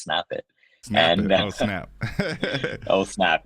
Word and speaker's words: SNPIT: or anything but um it's actually pronounced snap it snap oh snap oh